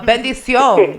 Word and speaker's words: bendición: You got the pronunciation right. It's just the levels, right? Bendición.